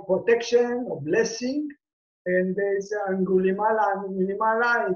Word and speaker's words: Aṅgulimāla: His title was, or the way that they pronounce him, it's Aṅgulimāla, the one with the necklace with finger.